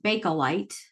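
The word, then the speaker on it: Bakelite: for a short time okay um it's actually pronounced balite okay and it was this um material that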